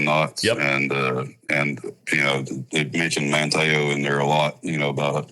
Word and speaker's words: Manteo: I can tell when I was like Manteo. There we go. Manteo. Forget the T.